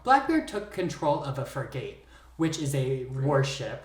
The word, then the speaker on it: frigate: So after he had that sloop for a while, Blackbeard took control of a frigate, which is a warship, right? It's pronounced frigate.